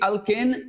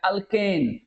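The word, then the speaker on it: alkene: अगर बात करते हैं कि अल्केन, अल्किन, अल्काइन का, तो आप लोग को 2-3 चीज समझ लीजिए, ये कंसेप्ट कहीं नहीं मिलेगा आपको अल्किन वाला।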